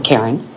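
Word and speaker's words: Carren: My first name is spelled C A R R E N. It's Karen.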